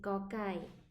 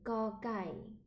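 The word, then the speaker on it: ก ไก่: Là c'est cocaille. Ok. Et comment bien prononcer le cocaille? Le cocaille en thaï est tout simple. Imagine que tu veux dire gâteau, gâteau, mais que tu coupes les ongles en to.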